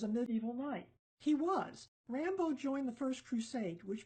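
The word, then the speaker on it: Raimbaud: me introduce you to Rambo II French pronounce it just the way we do the movie hero also known as Rambo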